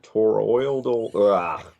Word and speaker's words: toroidal: but the branch gets at or old or toroidal transformer I said it right and the den